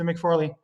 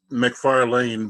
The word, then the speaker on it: McFarlane: mcfarley it's how you said you muted how do I see you last name he's still miss it's a it's McFarland but the way you